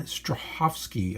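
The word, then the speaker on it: Strahovski: name of Levon butcher her name von Stroh HOF ski I believe it's how she pronounces it so and I know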